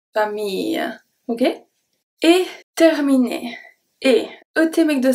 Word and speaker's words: terminé: So the E is going to be pronounced as a E because it's followed by two consonants. Then we have ER at the end that make the sound et.